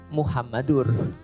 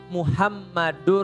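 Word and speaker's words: محمدٌ: Kenapa Muhammadar? Karena ada anna. Asyhadu anna Muhammadar Rasulullah. Kalau tidak ada anna berarti bacanya Muhammadur. Bisa difahami ya? Contoh misalnya, la ilaha illallah Muhammadur Rasulullah.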